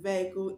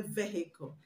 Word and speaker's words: vehicle: vehicle the edge in vehicle is not pronounced so you don't say vehicle you say vehicle not vehicle vehicle the Ed in the